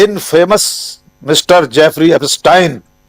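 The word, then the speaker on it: Epstein: जिसे वे कह रहे हैं इन फेमस मिस्टर जेफरी एस्टाइन। आपने ठीक कहा उच्चारण। राहुल गांधी ने भी एस्टाइन ही कहा था। हम लोग भारतीय लोग उसको एस्टीन ही कह रहे हैं।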